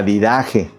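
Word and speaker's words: Didaché: Y luego hay un libro, ese sí se lo recomiendo que lo lea, se llama La Didash o La Didaje. Adidaje, así se pronuncia, es un libro con una portada roja, ¿no?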